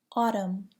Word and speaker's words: autumn: Do not pronounce the N in the following words: autumn, column, condemn, dam, hymn, solemn.